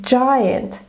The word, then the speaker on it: giant: That again, giant, pronounced with a J, but spelled with a G.